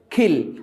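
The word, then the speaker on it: kill: খিল, আই উইল খিল ইউ, আমি তোমাকে হত্যা করবো, ডোন্ট কিল মি, ওকে?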